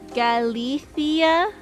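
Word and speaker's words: Galicia: If you want to be very Spanish, you pronounce the C the Galathia. Galia like eitha.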